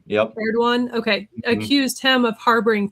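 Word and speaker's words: Erdoğan: I don't know how to pronounce his name. Erdogan or Erdogan. Erdogan. Yep. Erdogan.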